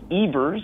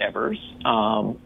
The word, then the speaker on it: Evers: about a thousand fronts it's Ebers not Evers and I only correct